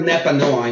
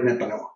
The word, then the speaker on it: Nepanoa: 2020 when I started Nepanoa. And Andy, you did a great job pronouncing it. Nepanoa is a word in Nahuatl. Nahuatl was the language of the Aztecs.